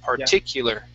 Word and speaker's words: particular: Okay, so be careful with this I. Instead of parti, it's parti. Short I sound. Particular.